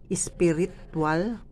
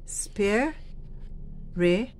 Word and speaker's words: spiritual: Spiritual. Wala pong vowel sound doon. Wala pong vowel sound dyan. At yung A, hindi po binibigkas ng buo. Weak vowel po ang ginagamit. Yun pong T ay CH ang tunog. Kaya hindi po pwedeng spiritual. Ang kailangan po o ang dapat po ay spiritual.